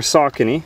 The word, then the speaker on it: Saucony: a review of the Sone showdowns or sakon some people pronounce it and I just